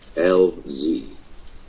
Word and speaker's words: Elzie: Linda LZ pronounced LZ.